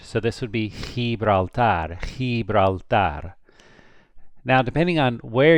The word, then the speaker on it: Gibraltar: guttural down here in the throat, you can pronounce it a little bit thicker. Gibraltar.